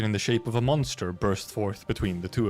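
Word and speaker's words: Mon3tr: A large obsidian crystallization in the shape of a monster burst forth between the two of them. And yes, it is typed M O N the number three TR. It is pronounced just monster.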